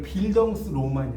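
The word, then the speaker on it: Bildungsroman: 자, 이런 걸 이제 뭐라고 하냐면 독일어인데, 자, 우린 발음해드릴게요. 네, 이걸 빌덩스 로만이라고 해요.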